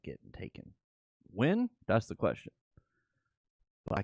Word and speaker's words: Nguyen: When moon? Oh, no, that's how you say it. When. When. NGUYEN is pronounced when.